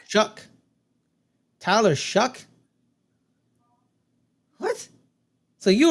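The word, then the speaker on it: Shough: Just so y'all know, it's pronounced Shuck. Shuck.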